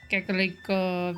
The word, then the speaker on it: Kakariko: Kakariko Village. I'll say it properly. You get that roll, that L sound on your R.